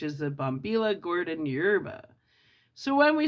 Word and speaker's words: yerba: Yerba, pronounced yerba, is the Castellano word for herb.